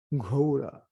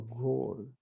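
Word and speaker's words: ঘোর: Gopinath mana je pagala mora na mone shushan shada achetan vishayano yeche ghora or gor, because they don't pronounce the A unless it's a long A.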